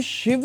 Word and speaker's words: शिव: वो रामा क्यों है शिवा क्यों है शिवा शिव है शिव शिव करेक्ट वो करेक्ट है अब देखिए देवनागरी